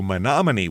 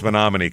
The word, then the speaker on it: Menomonie: Uh we are going to Monomin, Wisconsin.